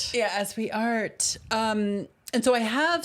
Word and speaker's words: Asweart: And in this No, it's pronounced as we art. Yeah, as we art.